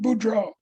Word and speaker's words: Boudreaux: How do you pronounce his last name again? Boudreaux, Yeah, Boudreaux.